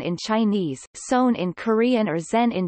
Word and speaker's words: seon: Zen Buddhism, Chan pronounced Chan in Chinese, Son in Korean or Zen in Japanese, derived from